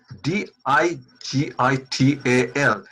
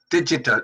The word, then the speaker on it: digital: oh why joy joy here we have g di GI tal digital digital it is not digital as as many Bangladeshis pronounce again it is digital Bangladesh not digital Bangladesh here we have the